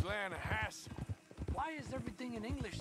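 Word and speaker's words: Lannahechee: You mean the Lanahatchee River? No. The Lanahatchee. It runs right near here. Yeah, but it's pronounced Lanahatchee.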